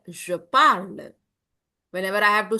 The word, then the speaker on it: parle: It is not parlent. Please no. It's only what? Parle. You are not going to speak the last consonant.